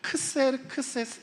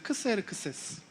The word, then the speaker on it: 크세르크세스: 에스더를 후궁으로 맞았던 왕이잖아요 근데 세계사적으로 역사 안에선 아수라 발음하지 않고 크세르크세스 1세라고 발음합니다 한번 해 보시겠어요 크세르크세스 여러분 크세르크세스 만난 적